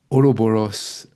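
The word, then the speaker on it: Ouroboros: you publish please excuse me for getting the pronunciation of this wrong uh so you published the oroboros is that is that right yeah that's perfect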